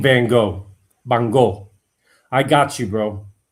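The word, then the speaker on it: Van Gogh: I can't spell but um it's Van Go is the proper pronunciation of uh go.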